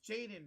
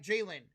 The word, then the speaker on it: Jalen: Jalen, it's Jaden, right? Jalen, yes.